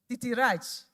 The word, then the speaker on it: Titirach: Titirach is the correct pronunciation, isn't it?